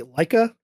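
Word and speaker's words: Laika: he eventually left to do I can't ever pronounce his company right. Leica.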